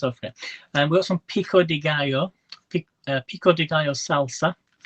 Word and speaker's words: pico de gallo: pico de gallo salsa it's pronounced pico de gallo it's a play on